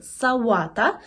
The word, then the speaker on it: sałata: слово So what a вимовляємо через губний звук в савата це є зелений салат